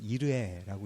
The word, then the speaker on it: 이레: 여호와 이레는 이레라는 말은 원어로 읽어보면 이르에라고 읽을 수 있는데요.